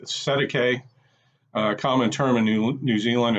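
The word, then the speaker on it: Cestui Que: Cesti Que Trust is pronounced Cesti Que, common term in New Zealand and Australia, or straw man.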